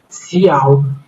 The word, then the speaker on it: cout: brackets with will execute C out pronounced as C out is an object used